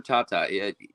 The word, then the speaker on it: Tata: seen, and that's Andrew Tate. Talk about Andrew, because he is all Andrew over Tata. the ice. Yeah. Yep. Oh, I'm sorry. I said his name wrong. Yeah. Yeah, Andrew Tata.